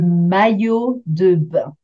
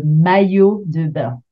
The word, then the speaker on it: maillot de bain: Alors, the first one we are going to see is le maillot de bain. Not the easiest one to pronounce, le maillot de bain.